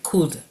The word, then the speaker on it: could: Entonces, ese va a ser el could. Mm. Code, que se escribe co u l.